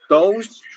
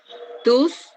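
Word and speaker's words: τούς: Tous. Nomos. No escuché el verbo. O didáscolos. Didáscalos. Sí. Sí, jodidáscalos. ¿Qué dice acá? Ginosquei. Ginosquei. Tus. Nomus. Ajá. Recuerden, diptongo u.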